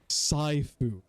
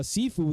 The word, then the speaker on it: Sifu: i want sifu or some people would like to say saifu i don't know why anybody would pronounce it that way but whatever just just ignorant you know whatever but uh sifu the game where you